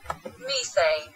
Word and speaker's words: methane: Bạn cái chữ thờ này là bạn đưa cái lưỡi ra bên ngoài hai cái răng luôn. Bạn kẹp chặt hai cái răng sơ sơ